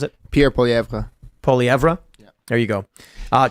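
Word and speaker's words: Poilievre: trau actively covered up what how do you pronounce it Pier poeva poeva yeah there you go uh TR Trudeau actively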